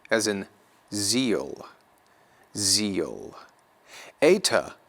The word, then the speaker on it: eta: Eta, a longer form of what is an E-class vowel, just like epsilon, it's going to be pronounced like A, as in way or skate.